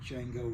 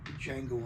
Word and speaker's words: Django: Kind of like Django Reinhardt. He was a guitar player, jazz guitarist way back in the 20s, 30s. Or Django Unchained, where the D is silent, then there's a J.